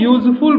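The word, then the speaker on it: useful: लिखा है यूजफुल book यहां भी देखो यू से शुरू हुआ है ये वर्ड बट वावेल लेटर है बट इसका साउंड आ रहा है यू य कंसोनेंट साउंड होने के कारण इसके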